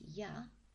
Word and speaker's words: 屋: It's pronounced ya, and it's quite an interesting character.